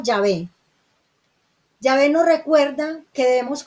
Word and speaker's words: Yahvé: estudiosa dice es que no se debe pronunciar Jehová, ese no es el nombre. Jehová es una pronunciación latina que se utilizó desde el siglo XVI, o sea, no había una pronunciación moderna. Cuando escuchamos a los judíos hablar de Dios, le dicen Yahweh. Nosotros le decimos Yahvé y hemos adoptado mejor ese nombre porque es más fidedigno, se ajusta más a la interpretación hebrea, Yahweh o Yahvé.